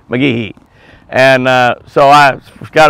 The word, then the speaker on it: McGehee: ask somebody over there if they the locals pronounce it said McGee or McGehee because I've always said McGee and so she did and whomever she asked